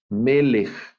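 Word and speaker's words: מלך: puedo leer me lee el acento de esta también va al principio aquí en la primera sílaba lo de los acentos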